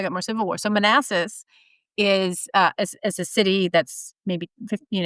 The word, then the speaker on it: Manassas: I'm trying to That's fair, but it is pronounced Manassas though, Manassas, right?